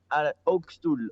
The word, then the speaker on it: Hoogstoel: pronunciado bien el apellido ox tool octubre es de origen holandés entonces por eso las letras las vocales no se conocían igual que en español y en francés entonces mi mamá y